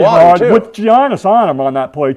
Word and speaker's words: Giannis: G is silent.